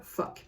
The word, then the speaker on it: phoque: to say that, but that is the way it is pronounced, they are phoque. P-H-O-Q-U-E. So they are phoque. That is how you pronounce the word.